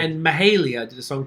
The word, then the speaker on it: Mahalia: and Mahalia did a song called Pretty. Anyone hear This this? was good. Yeah. This was chill. yeah. Big fan of. I don't know how to pronounce her name. Mahalia.